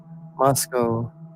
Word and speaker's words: Moscow: Rhymes with Glasgow. That was like, is anybody gonna type it? Like, what the heck? Okay, let's see. False. It's called false. Toy Town, Jane says. Moscow.